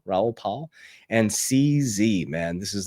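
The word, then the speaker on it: Raoul Pal: You got Michael Sailor, Brad Garlinghouse, Ralph Paul. Ralph Paul. Do I say his name incorrectly? Raul Paul. Paul. Pal. Raul Pal.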